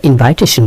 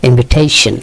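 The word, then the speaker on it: invitation: করা এর ইংরেজি ইনভাইট কিন্তু খেয়াল করবেন আমরা ইনভাইটেশন বলি এটি ভুল উচ্চারণটা হবে ইনভিটেশন ইনভিটেশন ইনভিটেশন মানে কি দাওয়াত গেস মানে অতিথি।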